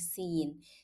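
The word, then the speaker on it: س: So the first letter is seen. That is the soft letter. So I have to make it like seen, seen, very soft.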